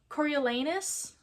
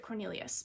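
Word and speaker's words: Coriolanus: When I was reading this before I saw the movie, I just pronounced it Cornelius. I tried sounding it out, but I read so fast my brain just decided it was going to be Cornelius until I figured out how to pronounce it.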